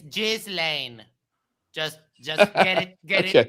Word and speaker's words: Ghislaine: I'm sorry to correct you all, but this is how you pronounce it. It's Ghislaine.